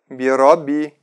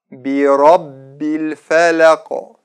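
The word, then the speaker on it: بِرَبِّ الْفَلَقِ: п р о б не говорите так вироби правильно так by rob би-би arabel филе окоп андерсон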